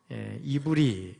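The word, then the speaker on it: עברי: 영어에서는 뭐 에벨, 헤버 이런 말을 쓰는데, 여러분 히브리 말은 원래 목구멍에서 나는 소리잖아요. 그래서 이브리 이렇게 발음이 되고, 히브리나 이브리나 그 자음을 보면 똑같은 글자라는 것을 알 수가 있어요.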